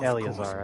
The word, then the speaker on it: Eleazar: Oh, Eleazar, that's how you say it.